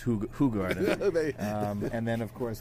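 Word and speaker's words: Hoegaarden: I think it it actually technically should be pronounced Hog Garden.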